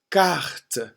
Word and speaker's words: carte: Carte. Une carte. Une carte. The C is not as aspirate, not as much air gets blown out when you pronounce a French C.